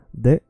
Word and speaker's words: det: Det, mycket, that, a lot. So when you see the word that, which means that or it, say just det.